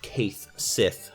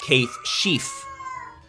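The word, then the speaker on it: Cait Sith: I saw a video the other day where they talked about how it's actually not Kaith Sith, but rather Kaith Sheaf.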